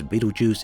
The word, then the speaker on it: Betelgeuse: Now there are of course a whole bunch of arguments over how this name is pronounced. Truth is, Betelgeuse is one of the correct versions. There was some translation issues from the original Arabic word, which means that astronomers now use variations of the word.